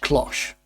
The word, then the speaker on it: cloche: Now, I did look up the word cloche. And in English, it's pronounced cloche. Now, if you're not English and it's pronounced different in your country, I'm sorry, but from now on, cloche it is.